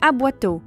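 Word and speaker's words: aboiteau: comme mentionné par le professeur d'université est une aboito ça s'écrit A B O i T e a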